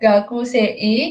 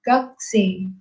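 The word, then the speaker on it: 学生: Walaupun tulisannya gakusei, kita bacanya panjang. Sama kunya di sini, itu kita bacanya agak samar gitu. Jadi bukan gakuse, tapi gakse.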